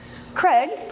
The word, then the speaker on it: Craig: Craig, my husband, rhymes with keg, so now you'll remember.